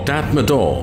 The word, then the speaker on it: Tatmadaw: The Burmese military, or Tatmadaw as it is pronounced in Burmese language, was born out of the hive of the Second World War.